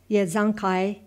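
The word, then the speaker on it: Yesukai: pronounced exactly in english it sounded something like this yazankai the hotter with the accent on the last syllable the hotter and the a's sounded like a in heart this was as near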